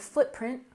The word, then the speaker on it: footprint: in carbon carbon and footprint we also stress the first syllable footprint footprint alog together carbon footprint